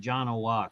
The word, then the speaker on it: Janowiak: my high school yearbook literally says no, you pronounce it Janowiak.